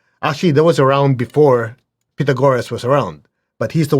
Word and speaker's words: Pythagoras: And tonight we'll talk about Pythagoras, or what I guess in English, Pythagoras. Anyway, I was in Greece and they say Pythagoras. You have to say it right, Pythagoras.